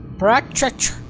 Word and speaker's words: Pratchett: Bom, essa semana eu tô lendo como pronuncia, Netão? Pratchett. Tô lendo mais um livro do Discworld, o Terry Pirâmides. Pratchett.